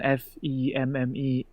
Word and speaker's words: femme: Also, one of my biggest gripes with the French language is that the word femme is written F-E-M-M-E and it's pronounced femme. Femme? Yeah, femme fatale is the French pronunciation of femme fatale.